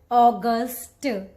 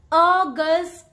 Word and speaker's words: August: the correct pronunciation so the correct way to pronounce this word is August August can you see the difference what is the difference I'm making here August in the end don't say August first of all just